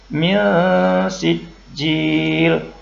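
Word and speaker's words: مِنْ سِجِّيل: Jadi ada dengung sedikit dan bunyinya samar-samar. Min sijjjil.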